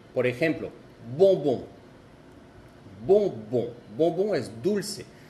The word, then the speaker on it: bonbon: Por ejemplo, bonbon. Bonbon. Bonbon es dulce. Y ven, la letra que sigue es una B, entonces se escribe O-M-B, bonbon. Pero se escucha de la misma manera en los dos casos.